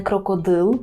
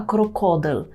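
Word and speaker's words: krokodyl: нас крокодил крокодил дзвонить увагу наголос і на вимову м'якого л це не крокодил український так а крокодил крокодил польський до слова крокодил треба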